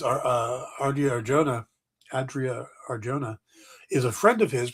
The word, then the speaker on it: Adria Arjona: 3 women have tested for Maxima, and they're Adria Arjona. I think that's how you pronounce her name. Adria Arjona from Andor.